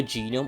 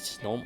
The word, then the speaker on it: gnome: spirits of the earth is it called genome or no because i would prefer genome auto genome i don't think it's pronounced that way it's pronounced as snom i believe each clan